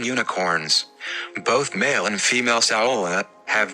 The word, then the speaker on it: saola: Number 4, Saola. The saola, pronounced sao la, meaning spindle horns in Vietnamese, is found in only